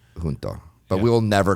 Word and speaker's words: Junto: So he's in our junto, or junto. Nobody really knows exactly how to say it, but I think the books say it's junto because, it was started by Benjamin Franklin and had a little Latin flair to it, and I think that's why it's called junto.